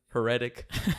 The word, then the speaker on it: Heretic: I've been saying it in a different way, like hereditary, heretic, but it's Heretic.